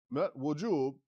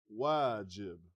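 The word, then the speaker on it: واجب: Min wujub, close. Min wajib, right? Wujub would be different.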